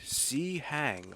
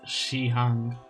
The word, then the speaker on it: Shi Hang: I don't know Chinese, but I know that that's wrong. At the very least, it's Shi Hang.